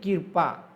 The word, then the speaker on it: कृपा: मात्र यानी कृपा, कर्पा नहीं पढ़ेंगे बल्कि क्या पढ़ेंगे, कृपा, यानी दृढ़, ठीक है, समझ में आ गया।